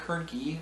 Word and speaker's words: Hoernke: As always, I'm Hoernke, rhymes with turnkey, and this has been a production of Zero Value.